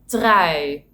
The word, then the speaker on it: trui: means loyal or to get married, instead of trui, which means sweater.